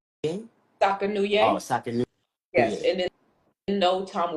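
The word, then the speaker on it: Sakanoue: Sakayuye? Oh, Sakanuye, Sakanuye.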